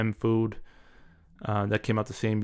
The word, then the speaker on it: FOOD: That's how the pronunciation is. So it's Food.